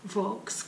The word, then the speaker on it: Volks: todos os tipos significa que se pronuncia vox custo próximo a loja